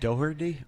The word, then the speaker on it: Doherty: Jack Doherty?